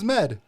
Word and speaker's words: Zmed: Zmed.